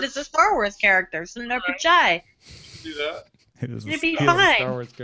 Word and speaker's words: Sundar Pichai: That one you can just pronounce it the way it looks. Sundar Pichai.